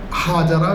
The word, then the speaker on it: ہاجر: اور ان کا نام ہاجر رکھا گیا، ہاجرہ بھی تلفظ کیا جاتا ہے لیکن عربی کے اعتبار سے ہاجر ہے، اور حضرت ہاجرہ بھی